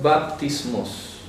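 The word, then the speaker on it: βαπτισμός: La palabra bautismo viene del griego baptismos. Baptismos. Entonces se pronuncia con P. Bap.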